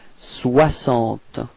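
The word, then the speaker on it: soixante: So this X is pronounced like S, okay? 60.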